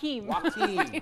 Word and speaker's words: Joaquin: Joaquin. Hokum's Jokums. Phonetically, it's W-A-K-E-E-M.